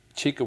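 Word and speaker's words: Chika: which is finding chica have I got the pronunciation of that's right chica that's right so this is your latest book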